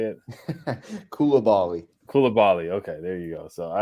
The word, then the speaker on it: Coulibaly: draft how do you say it Kula Bali Kula Bali okay there you go so I've said it